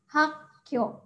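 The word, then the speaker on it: 학교: yo oke itu kata yang pertama dibaca ha suka tahun kedua adalah Kyo jadi dibaca hakco Oke gampang ya Nah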